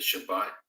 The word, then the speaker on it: Shabbat: I believe the Sabbath, the Shabbat, as we pronounce it, is a wonderful day.